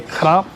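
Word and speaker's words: ครับ: So Sawadee krap is more in English like a k o p.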